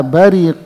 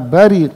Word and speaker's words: بَرِقَ: Pada ayat yang ke-7 Allah berfirman, فَإِذَا بَرِقَ الْبَصَرُ. Kita membacanya dengan فَإِذَا بَرِقَ الْبَصَرُ.